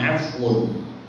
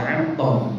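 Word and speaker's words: عفو: Apem itu dari ain, fa, wawu. Bacanya afun. Artinya pangapura. Lah lidah kita orang Jawa dulu itu mau afun, itu kangelan. Akhirnya ampem.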